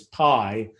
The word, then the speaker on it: pi: That's spelled pi, but it's said the same in English as pi, PIE, the word for, a thing you eat.